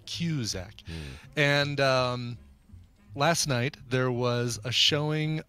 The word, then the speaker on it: Cusack: Cusack music I guess as confirmed of how it's pronounced cue Zach and last night there